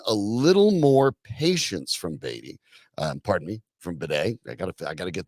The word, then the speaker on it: Badie: But Tyler Badie, and that is the correct pronunciation.